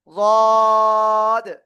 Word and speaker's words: ضاد: এবার খেয়াল করেন আপনার জিহ্বার গোড়াটা কোথায় লেগে আছে, দেখেন উপরে মাড়ির দাঁতের গোড়ার সাথে লেগে আছেন চারিপাশ দিয়ে। এবার আপনার কি করতে হবে, ওই অবস্থায় এই অক্ষরটা উচ্চারণ করতে হবে, গদ। তবে খেয়াল রাখবেন জিহ্বার আগা, উপরে এই 2 দাঁতের আগায় বা গোড়ায় যেন এরকম না লাগে, ঠিক আছে, এরকম না লাগে।